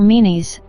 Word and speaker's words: Menes: The former is usually pronounced Men or Menes, and the latter is Narmer.